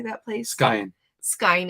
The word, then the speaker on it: Skagen: Skyen. Skyen. It's Skagen, Denmark.